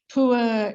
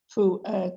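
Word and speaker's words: pu'erh: Certain kinds of tea, as this is today, pu'er in particular, is believed to help keep you slim.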